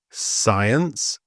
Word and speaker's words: science: But before an I and an E, the C is generally silent. And here are some examples: scent, science, scissors, and scenario.